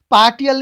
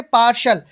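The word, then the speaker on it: partial: इसका उच्चारण क्या हो जाता है, स, यानी प्रोनाउंसिएशन हम बोलेंगे इसको स। जैसे कि पार्सल, पार्टियल नहीं बोलेंगे इसको, क्या नहीं बोलेंगे, पार्टियल नहीं बोलेंगे, क्या बोलेंगे, पार्शल।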